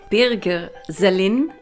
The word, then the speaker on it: Birger Sellin: So, Birger Sellin, I'm trying to pronounce it the German way because Birger Sellin is a German man who is autistic and who published 2 books in the 90s.